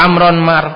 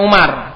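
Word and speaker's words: عمرو: marfuun waamatuiratu akhirihi wa amron mafulun bihi mansubun wa alamatu nasbihi alfathatu adhiratu ala akhirihi. Ini Amr ya bacanya bukan Umar. Kenapa? Karena Umar mamn minasarf enggak mungkin ada alifnya. Mafhum bacanya harus Amr.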